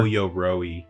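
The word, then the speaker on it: Ō-yoroi: O Yoroi. O Yoroi. Yeah, you're cutting out a syllable.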